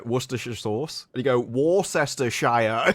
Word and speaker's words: Worcestershire: No, they say Worcestershire.